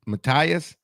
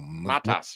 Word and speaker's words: Matas: Um I don't know how to pronounce his name. What is M Matis? Matias. Oh, the uh the young guy. Absolutely. Yeah. Oh, Matas.